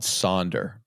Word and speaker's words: sonder: I feel like there's a term called sonder, and it's like wonder, but it's spelled with an S.